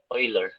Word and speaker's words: Euler: Si, if there is pi, it is always Euler, no? Or Euler, sabi ng iba. It is Euler. Ang tamang bigkas daw. Sabi ng mga experts.